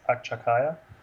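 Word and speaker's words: Akçakaya: name properly so my name is is akshakaya and yeah that's how you pronounce it I guess and uh I I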